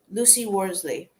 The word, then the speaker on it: Worsley: This is from Lucy Worsley. I don't remember. I don't Okay. remember if I'm pronouncing her name right, but Yeah, Lucy Worsley.